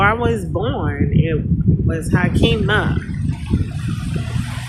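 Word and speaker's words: Haqimah: And before I was born, it was Hakima. Hakima. I spell it H-A-Q-I-M-A-H. H-A-K-I-M-A-H means wise. But if you put it with a Q, H-A-Q means truth.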